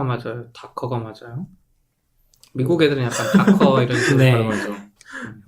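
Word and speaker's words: Docker: 근데 도커가 맞아요? 다커가 맞아요? 미국 애들은 약간 다커 이런 식으로 네.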